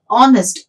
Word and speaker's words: honest: the with the consonant H but when you pronounce this word so we get honest awesome so when ah is a is a